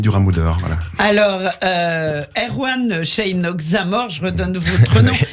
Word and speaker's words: Szejnok: Alors Erwan Sheinok Zamor, je redonne votre nom. C'est comme ça qu'on prononce. Oui, Sheinok, c'est ça. Voilà. SZ à la SZJ.